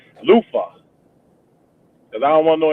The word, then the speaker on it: Luther: You gotta say it like your front tooth is loose. Luther.